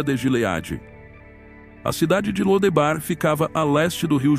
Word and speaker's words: Lodebar: A cidade de Lodebar ficava a leste do rio Jordão, e provavelmente também era conhecida como Debir. O nome Lodebar, ou dependendo de sua pronúncia Lodevar, indicava um lugar sem pastagens.